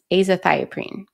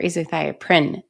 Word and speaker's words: azathioprine: And then Imuran is also known as azathioprine or azathioprine, depending on who's pronouncing it.